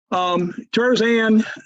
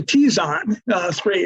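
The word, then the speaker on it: Terzan 3: Tarzan, actually Tizon 3 is how you pronounce that.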